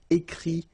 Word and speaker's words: écrit: Remember, you put this T, you don't pronounce it. Écrit, dit.